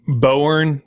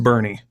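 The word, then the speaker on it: Boerne: that's texas for you it's kind of like bowern texas no it's pronounced bernie barney get it right yeah exactly i'd love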